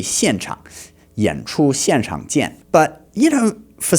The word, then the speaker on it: 现场: hasn't really studied Chinese, he's not pronouncing the X words correctly. It was like 现场. Let's listen to that again. 演出现场见。演出现场见. So the X, the 现, it should be 现场.